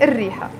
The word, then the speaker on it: الريحة: We write it شو هالريحة, but we have to pronounce it شو هالريحة, because the letter ر, ريحة, ر, is a sun letter, so we don't say الريحة, we say الريحة.